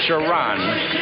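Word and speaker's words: Sharone: in the middle here is sharon wright it's pronounced sharon wright clemson 611 262.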